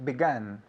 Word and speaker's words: begun: lately I have B I've begun begun begun gun just like a gun begun right begin began